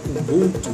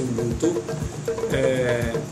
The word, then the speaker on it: Ubuntu: Então, alguns pensadores e filósofos africanos, né, alguns deles da África do Sul, né, falam de uma filosofia Ubuntu, ou alguns pronunciam Ubuntu, em que se afirma que a visão, de